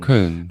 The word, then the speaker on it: Köln: You'd say, how do you pronounce Köln. Köln.